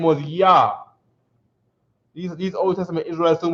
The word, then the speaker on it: Yah: And it'll be pronounced like a YAH. Yah, right?